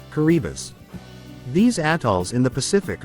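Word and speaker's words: Kiribati: For those of you who answered yes, did you know that it is pronounced Kuribbus?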